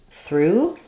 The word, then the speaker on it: through: um and then uh the GH is silent so basically I would rewrite it as through it's the same pronunciation as this through if that helps you